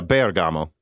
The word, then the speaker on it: Bergamo: let me just say bergamo is pronounced with emphasis on the e yeah bergamo i mean there you